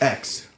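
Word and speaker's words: X Æ A-12: __ ] those names it's pronounced X that whole thing I think they just I think it's just pronounced X the kid the kid just X yeah just X and I mean we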